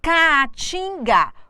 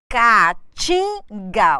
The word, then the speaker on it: Caatinga: Caatinga, vogal A, não podem ficar juntas na mesma sílaba, elas se separam. Caatinga, o que eu tenho aqui? A tonicidade está em tim.